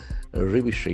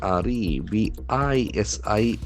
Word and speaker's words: revision: Revision, you revise something. R-E-V-I-S-I-O-N. As we know, the shun ending must be nouns. Revision. Revision, the accent falls in the second syllable.